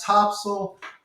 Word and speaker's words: Topsail: to you about North Topsail Oceanfront real estate for sale we call it Topsail like Siegel but really it's spelled top sale for all you northeasterners